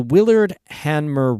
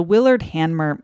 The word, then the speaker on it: Willard Hanmer: The Willard Hanmer race was created in 1963, named after a well-known guideboat builder from Saranac Lake.